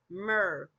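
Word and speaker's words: myrrh: It's It's pronounced Merr.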